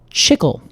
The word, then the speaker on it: chicle: I think it's pronounced chicle. Chicle? Is that maybe it? Chicle. Chicle. Yeah. Chicle. I have been pronouncing it chicle this whole time. Oh, Casey. Oh, no, Alex. I really hope you haven't done this in front of any Hispanic people.